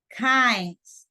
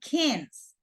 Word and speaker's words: kinds: Kinds, no kins, kinds. Okay, so Luis, can you please read the instruction? To A match the kings of the film with the photos. I'm just saying that the pronunciation, it's no kins, it's kinds.